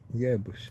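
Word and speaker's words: hierbas: Yeah, don't pronounce the H. Yerbus.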